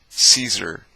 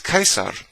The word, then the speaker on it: Caesar: b says right but people still say see like caesar caesar are you stupid it's kaiser that's why it says